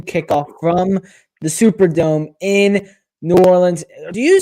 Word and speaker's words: New Orleans: I don't know how I say it because sometimes I'll say New Orleans, sometimes I'll say Orleans. I haven't chosen. Apparently the locals say New Orleans, so that's what I like to go with, but teach their own, I guess.